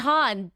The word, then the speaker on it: Bitton: It's Bitton. It's Bitton. I knew the correct pronunciation.